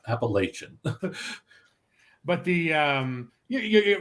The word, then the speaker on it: Appalachian: He does make a point of explaining the proper pronunciation. Appalachian, not Appalachian.